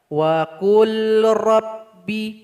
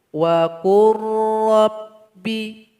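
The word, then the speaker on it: وَقُلْ رَبِّ: Salah kalau dibaca wa qul rabbi, nggak boleh. Yang betul itu wa qur rabbi.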